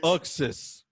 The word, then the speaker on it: Uxas: Oh, it's pronounced Uxas.